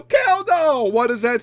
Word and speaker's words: Kjeldahl: Okay, so we're back with another method that you can't say nor pronounce nor spell. Woohoo. K J E L D H A L. K doll. What does that spell? Kall.